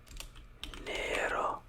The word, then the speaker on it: Nero: rose black black is Nero Nero Nero you roll your r's but like the Rosa it's like a quick roll Verde is more like